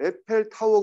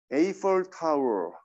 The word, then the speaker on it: Eiffel Tower: 에펠탑 프랑스에 이거 에펠탑이라고 에펠타워 그러면 잘 못 알아들어요. 어떻게 읽어야 된다고요? Eiffel Eiffel Tower. 에펠 타워가 아니라 Eiffel Tower 이렇게 발음을 해야 되는 거죠.